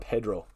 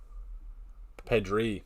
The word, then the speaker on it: Pedri: Sebastian I'm not even going to try and announce pronounce that second name. Is that Merino 20? Is that Pedro? Pedri.